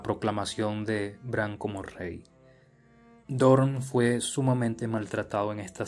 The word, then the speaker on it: Dorne: ver un ejército de Dorne, o Dorne, para pronunciarlo como se escribe.